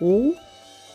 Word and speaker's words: ㅗ: Lần này, nếu bạn thêm một dấu chấm vào đầu ㅡ , có nghĩa là đất, nó sẽ trở thành ㅗ và đọc là o [o].